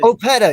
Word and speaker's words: Opeta: Hey, look, it's not Opeta, is it? Opeta, yes, thank you.